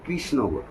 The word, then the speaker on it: কৃষ্ণনগর: যেটা লেখা হয় ব্রিটিশ আমল থেকে সেটা কে আর আই এস এইচ এন এজি এ আর মানে কৃষ্ণনগর কৃষ্ণনগর এই তালবস এইবার রেফের ঋ এর উচ্চারণটা রেফ নয় ঋ এর উচ্চারণটা কৃষ্ণনগর আর